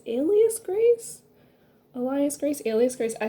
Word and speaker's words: Alias Grace: i always thought it was elias grace but i think it's alias grace elias grace alias grace